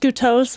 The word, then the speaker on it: Goutos: These days, I'm going by, and it is pronounced Goutos, but I'm going to go ahead and forgive you.